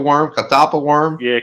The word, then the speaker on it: catawba: Catapia worm? Catapa worm? Yeah, catawba worm.